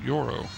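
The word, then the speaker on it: Yorro: That's how you pronounced it. Yoro.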